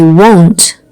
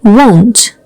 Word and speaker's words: won't: So make sure you are pronouncing it correctly in terms of the O, and also make sure you are saying the T sound at the end.